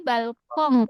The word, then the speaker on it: Balkon: Ini balkong pakai eng ya.